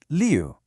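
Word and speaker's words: 六: You see, in Mandarin, the number six is pronounced leu, which sounds a lot like a word that means skilled or smooth.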